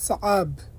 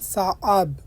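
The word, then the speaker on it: صعب: আরবিতে হচ্ছে সাআব। এখানে লেখা আছে সাব, আপনার সাব বলবেন না, বলবেন সাআব, আইনের উচ্চারণটা করবেন।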